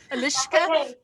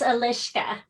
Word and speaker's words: Eliska: all the time sorry alicia it's alishka yeah you think of it like if you're drunk or if you're telling a secret yes or if you're